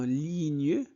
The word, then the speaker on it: ligne: Ce que j'aime aussi, c'est c'est la possibilité de jouer jouer en ligne GN se prononce ni en ligne avec mes amis.